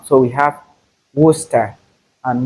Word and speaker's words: Worcester: This word does not have 3 syllables, rather 2. We have Worcester and not Worcester.